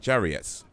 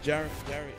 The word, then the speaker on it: Jarriet: Jarrett, okay, it's pronounced Jarrett. The I is silent.